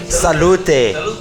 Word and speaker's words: salute: do you say cheers Sal okay Sal salute salute oh okay where you from South Africa